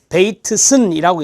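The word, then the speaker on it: Bateson: 베이트슨이라고 읽는데요.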